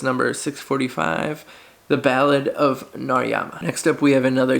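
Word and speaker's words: Narayama: number 645 and it is the ballad of narama see I said it right this time yeah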